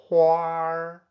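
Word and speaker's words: 花儿: Hua, huar, flowers. Besides the huar given to girlfriends, the beautiful patterns on latte coffee are also huar, hua, huar, painting.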